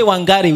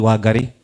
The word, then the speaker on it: Wangari: We say wangari with an n, but it's actually wagari. You see, it's a paradox of literature, which distances itself from the reality. Amen. The truth is, there's no N in pronunciation. The N is silent. Amen.